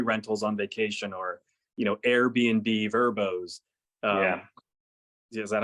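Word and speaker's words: Vrbo: you said, toy rentals on vacation, or Airbnb, Verbos. Is that how you say it? Verbo?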